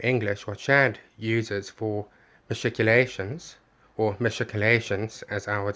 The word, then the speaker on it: machicolations: and we nicholas lloyd says that like many words of greek origin he wants to say articulations or perhaps that's how a lot of academics have been pronouncing it but overall um that's a pronunciation he can use if he wants to but the oxford dictionary for received english would say uh matriculations very similar to how chad actually